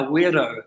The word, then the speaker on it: wero: involves a taiyaha warrior who throws out a weirdo which is spelt w-e-r-o and they we invite the visiting